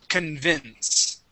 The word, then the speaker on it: convince: right this word here convince convince there you go yep stress on the on the end convince one more time